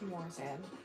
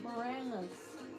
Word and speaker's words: Moranis: It was Rick Morissette. Played Barney. Moranis. Let me see. Spell it.